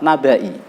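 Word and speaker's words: نبإي: Kemudian yang terakhir, karena ada 4 ya, wa malaihi wa malaihim afain, dan yang terakhir lafadz nabai. I-nya dibaca pendek di surat Al-An'am juz 7.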